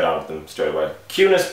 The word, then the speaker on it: ciùnas: Cunis boher colleen bonion.